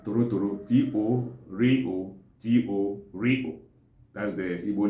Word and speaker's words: Torotoro: So the Igbo Izugbe calls it Torotoro, T-O-R-O, T-O-R-O.